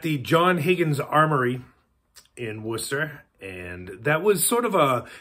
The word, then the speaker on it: Worcester: If you just think Worcestershire sauce, and Worcestershire is another word that, you know, tends to trip people up. But anyways, it is pronounced Worcester.